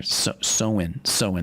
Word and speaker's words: Samhain: Yeah, the origins date back to ancient Celtic festival of Samhain, or Samhain, that's how you say it.